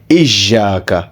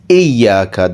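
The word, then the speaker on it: إياك: this one is that wherever you get ya with a shadda, it should not be pronounced with a harsh sounding voice. So it should not be Ijaka. Okay, it should be Iyaka.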